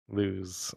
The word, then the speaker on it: Luz: Luz. Such delicious milk. Luz. Luz. I'm not a luz cow. I can't help but pronounce it lose, though. Lose. Well, that's the way the name is pronounced.